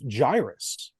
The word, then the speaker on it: Gyruss: First thing I learned that it was pronounced Gyruss, not Gyrus, because that's how I've been pronouncing it for 30-something years.